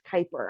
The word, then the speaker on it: Kuiper: about it like sir i work here it's kuiper i promise you but we are building satellites so yeah just so you know we do cover that in our orientation it is definitely kuiper and i am having recruited as a senior